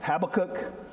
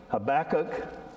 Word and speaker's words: Habakkuk: different ways and so i had to learn the hebrew pronunciation it's one of that you have to kind of clear your throat as you say and kind of an